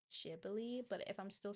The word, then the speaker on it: Ghibli: know some people say Gibli, some people say Jibli. From what I heard of the original Japanese pronunciation, the closest that comes to it, although it's not perfect, is Jibli, but if I'm still